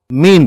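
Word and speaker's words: mesne: अगला शब्द है मीन प्रॉफिट्स, जिसे लिखा तो मैसने प्रॉफिट्स जाता है, लेकिन अंग्रेजी में सही उच्चारण मीन प्रॉफिट्स होता है।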